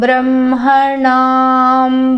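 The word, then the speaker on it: ब्रह्मणाम्: Yeah, that Brahmanam was not articulated properly. What happened? Short, yeah. What is it? Short or long? Long. Jyeshtarajam Brahmanam Brahmanaspata Jyeshtarajam Brahmanam Brahmanaspata.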